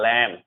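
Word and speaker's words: lamb: बी जो silent होता है जब एम के जस्ट बाद आप बी देखोगे तो बी साइलेंट होता है, ध्यान रखना।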